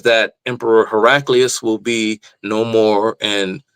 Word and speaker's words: Heraclius: I think his name is properly pronounced Heraclius, but tomato, tomato.